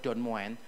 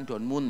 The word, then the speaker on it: Don Moen: lagu yang ditulis oleh Don moen bacanya bukan Don Mun ya kalau donmun itu berarti Moon itu moon bulan ini bukan moen bacanya Ya itu bukan Soeharto